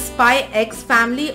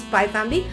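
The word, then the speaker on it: Spy × Family: it is pronounced as Spy X Family or Spy Family, but from what I hear, from most people I hear, it is pronounced as Spy Family.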